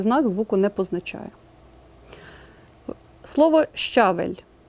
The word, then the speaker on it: щавель: звуку не позначає слово щавель у слові однакова кількість звуків та букв буква ща позначає два звуки шч а м'який знак не позначає жодного звука і зайвий варіант -